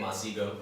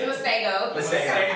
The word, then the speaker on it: Masego: Masego. That's not his name. It's Masego.